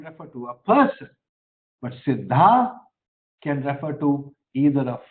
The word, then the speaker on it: siddha: the secrets okay now the word sidha sidha is with a long a it's not a it is not sidha it is sidha it is derived from